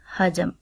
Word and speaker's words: حجم: اوپر زبر آئے گی، جیم کے اوپر زبر اور میم کے اوپر جزم آئے گی، اور اس کا تلفظ کچھ اس طرح سے ہوگا حجم۔ دوسرا لفظ ہمارے پاس